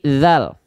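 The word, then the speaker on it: ذال: Nah, banyak orang keliru huruf dal dilafalkan jadi dal. Kenapa? Karena keliru ya dari segi bentuk, sehingga pelafalannya ikut keliru. Nah, banyak orang melafalkan begini, teman-teman. Perhatikan baik-baik. Inna fa'atid dikro. Tidak dal, tapi zal.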